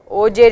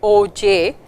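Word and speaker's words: Auger: So, that brings us to the next recombination mechanism, and this is called OJ recombination. The R is silent and it is spelled as OJ, and in this process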